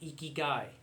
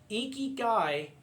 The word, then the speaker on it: ikigai: using the Japanese word ikigai. It's a Japanese word which is spelled I-K-I-G-A-I, ikigai.